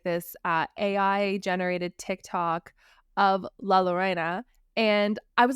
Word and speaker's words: La Llorona: Like, from what I understand, the more the Spanish pronunciation is La Llorona, and then Yeah, it's because La the double L is a Llorona. Y sound. Right. It's like La Llorona if you're from like Mexico and Latin America.